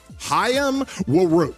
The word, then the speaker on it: Hayam: All right, Haim Woo. Okay, I looked up that name on how to pronounce it.